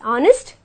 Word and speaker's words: honest: and R where H becomes Sion and we pronounce it as honest and are okay we use the article a